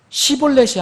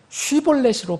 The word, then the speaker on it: Shibboleth: 만약 여러분들이 분명하게 시볼렛이 아니고 쉬볼렛으로 발음할 수 있다면, 그런 하나님의 백성이라면 여러분 그렇게 발음하면서 분명하게 세상과 구분하는 그런 발음을 하면서 이 세상에서는 지금 어떻게 살고 있습니까?